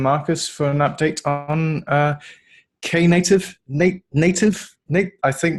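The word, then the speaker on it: Knative: a brief overview of K native not kind of coda all right can you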